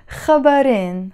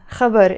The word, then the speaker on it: خبر: to give you so عم سجل هالفيديو تأعطيكن خبرين خبر is one news that's how you say it